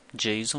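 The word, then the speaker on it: JSON: utilizar é o Jason veja pronuncia-se Jon mesmo tá é um acrônimo de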